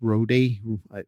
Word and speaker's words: Rode: Literally, I'm looking at I think it's pronounced Rode, R-O-D-E for my mic.